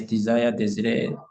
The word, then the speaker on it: Désiré: Is it Desire? Am I pronouncing it correctly? Yes, Désiré, the same. Oh, Désiré.